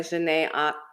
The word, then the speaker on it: Janae: Her name is Janae. I knew it. That's why I asked. Like pronounced like Janae Aiko.